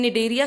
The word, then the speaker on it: Cnidaria: So in Cnidaria, C is silent.